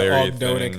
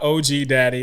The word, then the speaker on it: Ogdoadic: Someone was Somebody somewhere was mispronouncing mispronouncing the Ogdoadic thing, and we got OG daddy instead of Ogdoadic.